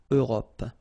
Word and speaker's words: Europe: Remember this final E, it's not really present. It only gives you the possibility to pronounce this P, PP at the end, okay? Europe.